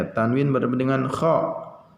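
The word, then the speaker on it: خ: Kalau kha dibacanya gimana? Kha, ya, jangan dibaca ha.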